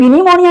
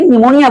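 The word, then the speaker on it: pneumonia: ये क्या है निमोनिया य प निमोनिया नहीं बोलते हैं बल्कि निमोनिया बोलते हैं पी साइलेंट होता है लेकिन कुछ वर्ड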